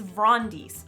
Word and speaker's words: Brontes: Next up is Vrondis, Sovereign of Thesson. I know it's spelled Brontes, but that's not how you say it, because names are a bitch and life isn't fair.